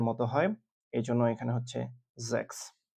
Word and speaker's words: sechs: sechs মানে ছয়। আমি আবার বলছি sechs মানে ছয়।